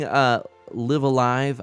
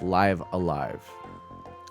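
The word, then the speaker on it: Live A Live: Oh, live is pronounced like live stream on both. So it's live alive.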